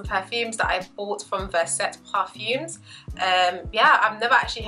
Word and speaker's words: Verset: So yeah, so let me tell you a little bit about Verset Parfums. Hopefully I'm saying Verset correctly. I just know that I'm not, but it's spelled V-E-R-S-E-T. That's how I would pronounce it.